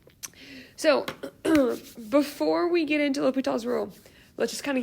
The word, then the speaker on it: L'Hôpital: This is not pronounced LHospitals.